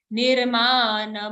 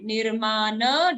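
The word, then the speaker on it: निर्मान: Don't say nirman moha. What happens if you say nirman moha? The na will be only half. We are saying only a half na, but it's a full na here. Nirmana.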